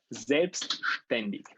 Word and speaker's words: selbstständig: It's like SH. Okay, so and that's it. So it would be selbstständig. Is it right? It is correct. Like this. Exactly. So it's What? you pronounce it like this. You pronounce it like selbstständig.